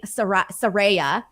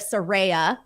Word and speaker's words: Saraya: person, I'm guilty, Phil, of saying Saraya instead of Saraya. So I was saying Saraya instead of Saraya. There you go. That's what it is. Because of the way that it's spelled.